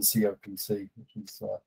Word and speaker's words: COPC: the very end then no official pronunciation but you keep calling it copic so that's what i'm going to call it from now on it's less of a mouthful than copc um really uh going